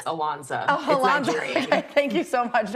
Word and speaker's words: Ilonzeh: you for having us I know my name set looks crazy it's easier pronounced than it looks it's alonsa Al thank you so